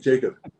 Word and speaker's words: Jakub: Yeah, well, it is Yakub, but you said it actually. You said it right. That's how you Uh, say it in my language, Czech Republic.